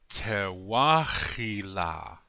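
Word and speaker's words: Tȟewáȟila: So you see the accent still stays on the second syllable, even though that guttural H moved up a little bit. Yeah, the accent stays on the second syllable in this word.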